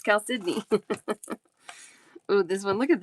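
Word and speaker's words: chalcedony: Because it's spelled Chaledoni, but it's Cal Sydney.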